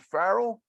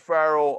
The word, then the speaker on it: Farrell: say your last name is it Farrell is that right yeah Farrell like uh Farrell's Ice Cream right Carl's okay all right thank you so much so we're here with Farrell uh co-founder of humanities